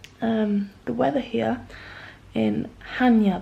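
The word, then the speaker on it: Chania: the weather here in hania by the way that's how it's pronounced Hanya um is dreary today but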